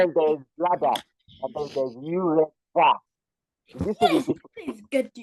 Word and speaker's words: urethra: Pronounce it now. Ureta. Tra, tra, tra. Urethra. Okay. Urethra.